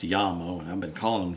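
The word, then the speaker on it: Jamo: speakers from bmw jmo which i i think is actually pronounced yamo and i've been calling them jamma um polk martin logan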